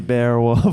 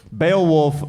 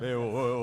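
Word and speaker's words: Beowulf: She's like, "Give it to me, Bearwolf." Bearwolf. What is it? What is bearwolf? Baolf, I think. Spell it. B E O W U LF.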